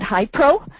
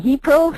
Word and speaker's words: HIePRO: First of all, you notice that we pronounce it HiPro. Even though it's spelled Hi-E-Pro. What happened was we found we had a hard time with the extra E, and it ended up becoming HiPro, so we're just going